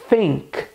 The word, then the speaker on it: think: Veja que o som do TH aqui não tem nada a ver com S, com F, com V. A pronúncia correta é think. Se trata de um som característico da língua inglesa, em que a gente posiciona a língua entre os dentes de cima e de baixo para justamente pronunciar o som de TH corretamente. Think.